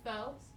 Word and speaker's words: faux: It's actually pronounced faux. Really? It's pronounced... I've been saying it wrong my whole life. That last letter is really misleading.